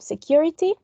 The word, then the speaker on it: security: one this one then we have security it has four syllables and the most prominent one is the second one this one then sensible